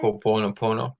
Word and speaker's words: Ho'oponopono: And I'm gonna probably mess up how to say it, but it's called a Po- Ho'oponopono. ho- You know it? Ho'oponopono.